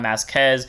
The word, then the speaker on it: Masques: average demonic Dragon King greed on masz or greed on mask whatever the you want to call it even though mask is how they pronounce it in English dub great 3% 13k base